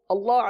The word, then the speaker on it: اللہ: حمزہ لام زبر ال، لام کھڑا زبر لا، اللہ پر کر دیجئے، اللہ کم پر ہے اور پر کیجئے، اللہ.